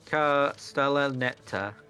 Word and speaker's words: Castellaneta: Dan Castellaneta. That's how you pronounce his name.